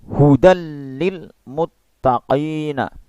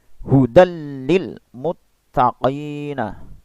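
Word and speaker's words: هُدًى لِّلْمُتَّقِينَ: Maka dibacanya idgham bila gunnah tanpa dengung. Hudal lil muttaqina. Begitu ya. Hudal lil muttaqina.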